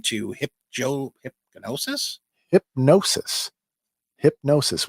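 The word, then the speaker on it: Hipgnosis: hip Joe hypnosis hypnosis hypnosis with a silent G yeah hipnosis uh others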